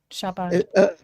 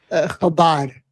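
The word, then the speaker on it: Chabad: Am I pronouncing this incorrectly, Ben? Shabbat. Habad. Yeah, that it's not the ch.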